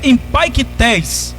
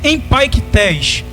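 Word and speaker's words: ἐμπαῖκται: A palavra escarnecedores no original do Novo Testamento, o original grego, ela é empaiktes. É uma palavra grega, o nome dela, como ela se pronuncia, é empaiktes.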